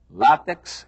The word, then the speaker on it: látex: Eles ensinam que quiçá quer dizer talvez, ensinam que a pronúncia correta é látex e ensinam que a pronúncia correta é duplex, triplex.